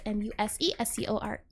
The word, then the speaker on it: MuseScore: That is pronounced MuseScore. Is that a C? SCORE. There you go.